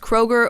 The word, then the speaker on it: Kroger: then are like mispronounced so for example kroger i think was like was it kluga yeah i think it was kruger probably yeah so like basically they just dropped the umlaut and now it's pronounced kroger or even the architect